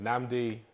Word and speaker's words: Nnamdi: yeah man so uh my name is namdi pronounced namds two ends in it that is not gonna